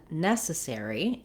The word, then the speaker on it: necessary: which i'll explain so when we look at necessary and necessarily we have our our stress on the syllable so i've written it here for you with two s's nes so you can think about this letter c making the s sound and also the letter